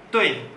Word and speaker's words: 对: Betul, bahasa Mandarinnya tui. Tui. Nah, ada 4. Tui, bukan tui. Tui, tui, bukan tui. Atau bukan tui, tui, bukan. Tapi nada 4 dibacanya dihentakan.